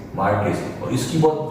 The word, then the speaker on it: Marquis: ठीक है, एक अमेरिका में बहुत ही फेमस एक बुक आती है MARQUIS, मार्केस, इसका प्रोनाउंसिएशन है मार्केस, और इसकी बहुत जो फेमस बुक है उसका नाम है who's who।